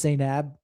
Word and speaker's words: Zainab: If it wasn't for this one woman named Zanib, I call her Zanib, but the right way to say it is Zainab.